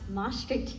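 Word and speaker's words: Emory: Um first of all it is pronounced MRI University.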